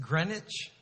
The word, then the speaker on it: Greenwich: torats Israel of East Greenwich we don't pronounce the w East Greenwich Rhode Island